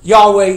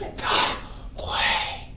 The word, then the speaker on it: Yahweh: How do you pronounce Yahweh in Hebrew? The Jews today call it the unpronounceable name. I've tried to tell you it is Yahweh. Yahweh. Let everything that hath breath, it's the sound of breath, praise Yahweh.